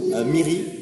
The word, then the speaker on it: Miri: Eh bien, écoute, merci beaucoup Miri pour ces informations, ces anecdotes.